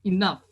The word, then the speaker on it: enough: So, the final sound of the word is F ya. Jadi enough. Bukan Yeah. enough. Bukan atau O. Tapi F.